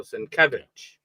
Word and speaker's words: Sinkevich: Sinc, you know, he he the the accent is on the middle uh syllable there. So, Sinkevich.